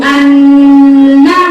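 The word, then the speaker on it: أَنَّ: Wa asyhadu anna. Setelah ditasdid, tasdid itu di IQ 4 diterangkan, ditekan, ditahan. Betul ya? Ditekan, ditahan 2 harokat. Wa asyhadu anna Muhammad.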